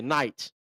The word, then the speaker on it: knight: Like like a like a like a knight. Like a You know, like a like a uh a night in shining armor. Excuse me. The K is silent.